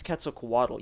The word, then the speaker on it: Quetzalcoatl: looks so good bro originally first off it's quetzalcoatl you son of a second